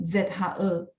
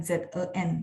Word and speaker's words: 这: Jadi bacanya adalah nada 4 dan ZHE, bukan ZEN ya.